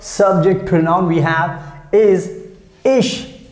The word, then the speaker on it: ich: we have is ish i see h ish the pronunciation in german language is quite easy because whatever you write you speak in the same way just like in english so i don't think that would be a problem here in german language for you so ish ish ish that's how you have to pronounce and that has simple meaning